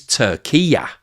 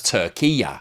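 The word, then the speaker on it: Türkiye: as turkey and that the Turkish pronunciation is Tura so in the same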